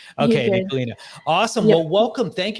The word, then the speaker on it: Nicholena: I want to make sure I don't pronounce your name wrong. It's Nicholena.